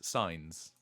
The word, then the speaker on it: Sainz: It's not like Sainsbury's then, no. No, it's like Heinz. Signs.